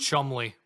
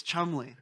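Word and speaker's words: Cholmondeley: Chumy. Chamder. I'm going to go full pawn stars and say it's pronounced Chumley. There's some there's some like colonel in here like colonal. It's Chumley.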